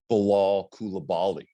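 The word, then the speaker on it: Bilal Coulibaly: you want me to try my debut uh pronunciation of uh Bilal kulabali I think you know that you got it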